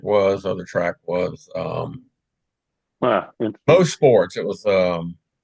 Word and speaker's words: Mosport: Most sports. It was everybody call it Mosport, Mosport, but it was most sport was the proper pronunciation.